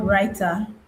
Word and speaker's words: Rytr: So, I said the name of the tool is called Rytr. Rytr is spelled r y t r.